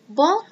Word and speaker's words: Boyle: Boyle's law actually sounds like the word boil.